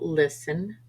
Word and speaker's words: listen: aisle debris Island chassis T is sometimes silent after s for example listen Castle fasten th is silent once